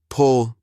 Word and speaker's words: pull: Pull with a short u like in put. pool with a long oo.